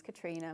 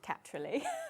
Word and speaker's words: Katrilee: started the business it in my mind it was katr because my name is Katrina my middle names katri and then I slowly realized not a single person pronounces it like that so it then became catly I love it I